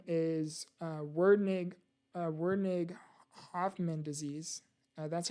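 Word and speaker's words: Werdnig-Hoffmann: And type 1 is Wernig-Hoffman disease. That's how you pronounce it.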